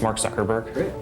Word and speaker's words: Mark Zuckerberg: the people you just say your name and pronounce it so nobody messes it up and they have it on tape sure it's Mark Zuckerberg it was not crazy somebody was gonna connect